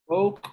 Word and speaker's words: oak: oak oak street oak oak street oak the pronunciation for this is oak street okay oak even though you have o a okay continue the rest